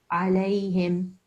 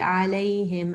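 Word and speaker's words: عليهم: Hum de la him it's not the ha ha you were pronouncing the thick ha there's no need because this is the soft ha I lay him okay well he did another doobie I lay him again soft ha and then right at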